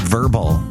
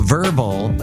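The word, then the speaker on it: Vurbl: So Verbal is not spelled V-E-R-B-L-E, it's spelled V-U-R-B-L.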